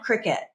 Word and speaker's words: Cricut: is the queen of Cricut and you would think cricket was spelled like like you know Jiminy Cricket right or Cricket the game but Cricket is spelled c r i c